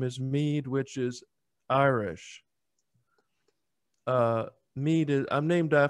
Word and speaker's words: Meade: I was saying Meade, but it's Meade.